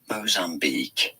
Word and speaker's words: Mozambique: Mozambique is how it's said.